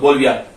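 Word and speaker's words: Bolivia: और बी से बोलविया, BOLLIVIA, इसको देख लेना भाई, तुम प्रोनाउंस क्या करोगे, बोलविया।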